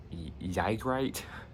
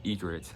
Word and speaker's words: Ygritte: When I first saw her name, I thought it was like pronounced Ygritte or Ygritte, but it's pronounced Egret, like egret, like the bird.